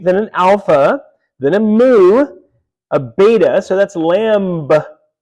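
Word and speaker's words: μῦ: Then we have mu, right? M-U or mu. M is in man, right?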